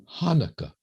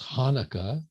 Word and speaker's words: Hanukkah: at the merriam-webster dictionary does not begin with ch but begins with h hanukkah and i guess hanukkah is a pronunciation for those who can't quite grasp the sound but i prefer to